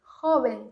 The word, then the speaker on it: joven: Joven, que tem o V, que é esse B. Joven, bem suave, esse B bem suave, tá?